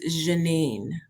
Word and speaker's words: Jheannine: Now let's hear, from the native tongue how it really is supposed to be pronounced. It is Jheannine.